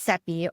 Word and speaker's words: Seppi: I'm your host, Seppi, rhymes with Peppy.